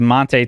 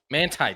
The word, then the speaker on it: Manti: That was the same voice as Monte Teo's girlfriend. Manti Teo. Manti. First name pronounced wrong tonight, Chris.